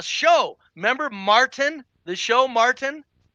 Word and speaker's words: Martin: remember Martin the show Martin Mar yes mar mar I'm going why do they do that to black folks this is a a national show that's glorifying the mispronunciation of the easy word Martin Martin did you like